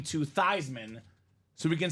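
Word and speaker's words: Theismann: thyman so we can say thyman for the Heisman Joe of course being a quarterback being a superstar he wanted all the glory complete sellout he says let's do it tman for the Heisman it did not work Jim plunet won the Heisman Trophy but the name stuck it was forever thyman till the end of days now years later this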